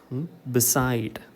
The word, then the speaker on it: beside: Okay, it is below, become, begin, believe, beside. Give primary stress to the second syllable.